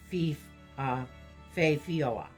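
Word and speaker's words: Féth Fíada: raising an enchantment mist known as the Fae Fiada, pronounced Fioa, or cloak of concealment.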